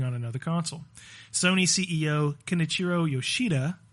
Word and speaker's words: Kenichiro: Sony CEO Kenichiro Yoshida said, quote, at this point, thank you. Very good. Quote, It's pronounced Ken Ichiro.